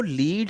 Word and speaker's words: lead: तो ये जो लीड है, ये वर्ड मैंने बताया दो तरह से प्रोनाउंस होता है, लीड कुछ और है, लेड कुछ और है।